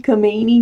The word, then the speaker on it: Khomeini: leaving if the ayatollah khomeini know how meny I keep saying pronouncing it wrong I don't think that you don't pronounce the cake Khomeini is he also leaving